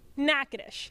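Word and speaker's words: Natchitoches: of coach gibson's list was learning how to pronounce the name of the town he will be coaching in nakadish but don't worry he assured everyone that he's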